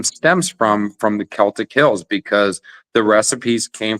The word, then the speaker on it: Celtic: it's pronounced yep it it is pronounced Celtic not Celtic but I mean unfortunately